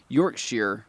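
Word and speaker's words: Yorkshire: Europe and York Shire it's pronounced York sheer by the way yeah no true I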